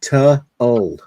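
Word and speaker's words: To Øl: The World Domination is technically pronounced ta-ul. Ta-ul. It means two beers in Norwegian.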